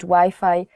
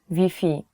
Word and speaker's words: Wi-Fi: So you have to change the Wi-Fi pronunciation. Even though the word is the same, the spelling is the same, you have to change Wi-Fi to Wi-Fi.